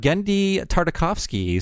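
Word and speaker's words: Genndy Tartakovsky: no way no way uh let's talk about gendi tartakovsky so that's how you say his name I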